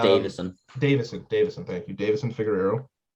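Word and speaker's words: Deiveson: Davinson Figueroa. It's just Davison.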